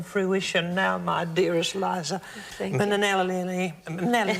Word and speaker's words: Minnelli: Minnelli. I was put in an extra syllable. Minnelli.